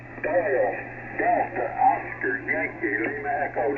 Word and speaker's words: Doyle: Dole or D? How do you pronounce your name? Doyle.